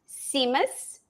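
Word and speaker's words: tzimmes: Uh it's pronounced seamus and it starts with Yes. It's like t z i ms I think it is. And but you pronounce it the t is silent.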